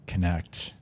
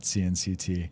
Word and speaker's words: CNCT: It's pronounced connect. It's pronounced connect. It's not CNCT.